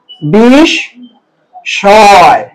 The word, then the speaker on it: বিস্ময়: সাথে আছে, স্বরের সাথে, এখানে মটা উচ্চারিত হবে না, এটা উচ্চারণ হবে এরকম বিষ শয়। তাহলে এখানে একটা চন্দ্রবিন্দু, কেন চন্দ্রবিন্দু দিলাম বলেন তো, কারণ নাসিক্য ধ্বনিটা এখানে এসে লোপ পেয়েছে, ম যেখানে থাকবে তার উচ্চারণ নাসিক্য হবে, তাই তার পরিবর্তে চন্দ্রবিন্দু হবে।